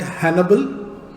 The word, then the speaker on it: Hanable: so so let's see this tool is called Hannibal to rhyme with enable as you already know